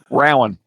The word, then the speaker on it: Rowan: And you should, because that's the way it would be spelled, but it is pronounced Rowan. Rowan. Okay, Yeah, that's Rowan. not. Yeah, that may okay. That I can see that. Yeah, Rowan. Yeah. Like because Hmm. it's like bow.